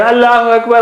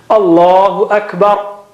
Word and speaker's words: Allahu Akbar: the adhan properly, so you may hear Allahu Akbar, Allahu Akbar, doesn't look nice really. We should train them. Allahu Akbar, Allahu Akbar, like that.